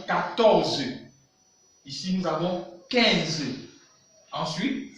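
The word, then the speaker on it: quatorze: Il ne faut pas oublier, nous avons dit que QU, nous avons vu que QU se prononce comme K. Voilà pourquoi ici nous avons 14.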